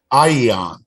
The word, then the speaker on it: Elia: thing, it's funny, because I think Kazan pronounced his name Ian. I-E-N. But I'm going to call it Alien because that's what everyone else does.